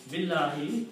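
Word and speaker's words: بالله: To make the speech easy, it's easy to say Billahi instead of saying two separate words, stopping after B and it's saying Allahu.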